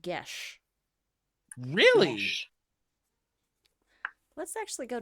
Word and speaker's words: geas: Mm, Google says it's pronounced Gesh.